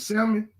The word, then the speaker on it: salmon: getting the message but did you just pronounce the L and salmon salmon salmon [ __